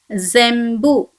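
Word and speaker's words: 全部: So it should be pronounced as Okay, so this word should be pronounced as Shimbun. Shimbun, which means newspaper. The second example is Zembu.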